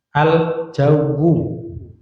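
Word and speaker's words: الجو: Aljawu itu alif lam kemudian jim sama wau. Wya tasdid.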